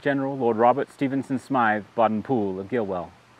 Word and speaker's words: Baden-Powell: Ward Robert Stevenson Smythe Boden Pula Gil well although I believe in America you pronounce it baden-powell however you say it is quite a mouthful